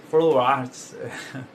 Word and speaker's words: Flow Arts: E veio o nome Flow Arts, artesanato, que é o Flow, na verdade tem a pronúncia é Flow Arts.